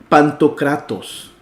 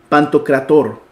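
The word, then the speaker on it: παντοκράτωρ: en caijo el homenos o pantocratos perdón pantocrator porque terminan un aro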